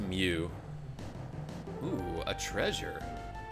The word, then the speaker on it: Mu: I know technically the Greek letter is supposed to be pronounced Mew.